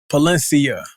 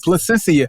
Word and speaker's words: Placencia: say the damn thing Palencia unless it's licensia placenta Placencia Placencia yes Placencia I apologize I think I've been saying it wrong this whole time and even before